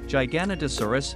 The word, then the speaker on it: Giganotosaurus: United States Giganotosaurus name meaning giant Southern lizard pronunciation Giganotosaurus food habit carnivore who named Rodolfo Correa and